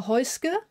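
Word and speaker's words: Häußge: I'm your host hoisker that is how you pronounce my last name no weird bee in there it's an S trust me and uh yeah welcome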